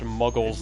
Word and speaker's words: Mughal: has been like the Mughal Empire I I didn't though it's pronounced muggles like muggles from Harry Potter by the way work